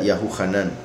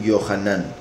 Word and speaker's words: Yahuhanán: Juan sería Yahuhanán. Otros lo pronuncian Yohanan, pero se debe a